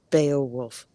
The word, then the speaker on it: Beowulf: Brian, I'm pretty sure it is pronounced Beowulf.